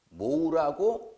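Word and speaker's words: mho: 읽을 때 모우라고 읽습니다. 모우.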